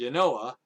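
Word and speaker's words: Janoah: In that time of Pekah, king of Israel, Tiglath-Pileser, the king of Assyria, came and took Ijon, Abel-Beth-Maachah, Yanoah, that's how you say it, Yanoah, Kadesh, and Hazor.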